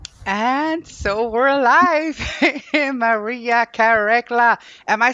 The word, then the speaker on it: Karekla: Maria Karekla. Am I saying that right? Maria Karekla. Beautiful. That's so good enough. Yes. That's good enough. How do you say it? Maria Karekla.